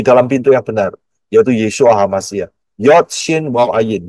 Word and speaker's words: Yeshua: ada ya jadi pintu satu yang benar adalah yesua Kalau saudara tidak masuk melalui yesua berarti Saudara